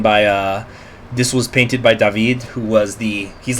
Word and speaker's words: David: I know it's spelled D-A-V-I-D, but that is how it's pronounced in French.